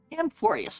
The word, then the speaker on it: Amphoreus: Amphoreus, that's how you say it.